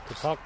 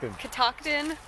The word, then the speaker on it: Catoctin: to C kakin how do you say it kton kton not to be confused with Kaden the end